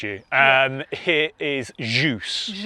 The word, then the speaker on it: Kjus: Uh a lot of people pronounce it wrong. Yeah. I get KJus. Yeah. I get that. Um yes, you did. I had to correct you. Um here is Jus. Jus.